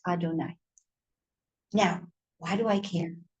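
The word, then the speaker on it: אדני: yes v and then sad olive v but pronounced adonai high.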